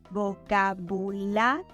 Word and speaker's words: vocabulario: Vocabulary, vocabulario. In this example, we change the termination "ary" to "ario, and we emphasize the second A in the Spanish word, vocabulario.